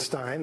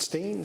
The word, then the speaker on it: Stein: So there's no right answer to that question. My family, my father pronounces it Stein. That's how I pronounce it. But I actually have relatives who pronounce it Steen, so I'll answer to either one.